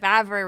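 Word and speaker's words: Vávra: I think uh Vavara uh yeah, Vavara. That's how you pronounce it.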